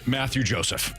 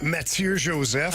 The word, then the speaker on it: Mathieu Joseph: And I'm just going to go with the American version of this next name in Mathieu Joseph. Yeah. Quality. Good job. It's actually pronounced Mathieu Joseph.